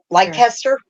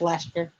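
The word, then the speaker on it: Leicester: the blue face light light tester light tester I can't say it that way I I always put the extra syllable in there yeah it's just Lester okay yeah I know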